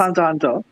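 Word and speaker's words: Hunter × Hunter: the X is silent. It's just It's Hunter Hunter.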